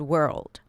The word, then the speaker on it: world: you say the word world. Okay? Were. Whirl. Bring the tongue to touch the upper pallet and make sure it's an L sound before you pop it to a D.